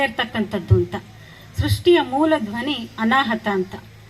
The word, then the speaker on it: ಅನಾಹತ: ಇರಲಿಕ್ಕಿಲ್ಲ ಹಾಗಾಗಿ ಇದು ಎಲ್ಲರಿಗೂ ಪ್ರಸ್ತುತ ಅನಾಹತ ಅನಾಹತ ಅಂತ ಸರಿಯಾಗಿ ಉಚ್ಚಾರಣೆ ಮಾಡಬೇಕಾಗುತ್ತೆ ಇಲ್ಲ ತಪ್ಪಾಗಿ ಉಚ್ಚಾರಣೆ ಮಾಡಿದರೆ ಅನಾಹುತ ಆಗುತ್ತೆ ಹಾಗಾಗಿ ಬದುಕು ಕೂಡ ಅಷ್ಟೇನೆ